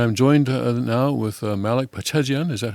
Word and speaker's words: Pachajian: And I'm joined now with Malik Pachajian. Is that how to pronounce your last name? Oh, thank you. Pachajian. Pachajian. The accent is on the first syllable.